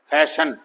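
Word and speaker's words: fashion: Silent आई इन आई ओ, million, million, फैशन, तो यहां आई silent है।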